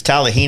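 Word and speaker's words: Talimena: tallahina yeah i always say it wrong it's tallahina is a town talamina is the parkway and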